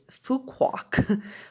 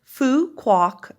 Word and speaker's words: Phu Quoc: you're probably wondering is how you pronounce that name it's fuquak fu quoc ridgeback so what are they